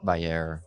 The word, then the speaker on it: Vayyar: So take us from the high level thought leadership behind VAR. Did I pronounce that correctly?